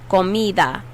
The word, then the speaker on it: comida: for food is comida notice how the d sound is not a hard d it's a really really soft airy d you gotta blow air out and it's kind of like a th sound in english comida comida it's